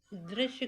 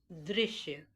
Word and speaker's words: दृश्य: अब दृश्य को अधिकतर हम लोग गलत तरीके से बोलते हैं। जो ऊपर फर्स्ट नंबर पे स्पेलिंग लिखी हुई है, आप देख रहे हैं, उसमें द के नीचे री की मात्रा लगी हुई है और इसको हम लोग प्रोनाउंस करते हैं दृश्य।